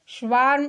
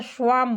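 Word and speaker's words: swarm: स्वार्म इसको बोलिए या स्वाम बोलिए, इसका उच्चारण स्वाम भी होता है, रॉ नहीं बोलेंगे।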